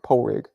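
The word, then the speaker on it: Pádraig: it dahi David has pronounced dahi Patrick is pronounced poig I I know you're the Irish one but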